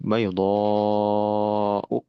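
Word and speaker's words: بيضاء: Nah, berarti ya, kalau masukin hukum tajwid di sini bacanya 5 harokat ya karena mad wajib baydha'u begitu. Itu yang dinamakan alif mamdudah, alif yang dibaca panjang.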